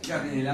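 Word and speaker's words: Gardnerella: aire de viene nr se pronuncia jardinera vaginales y luego le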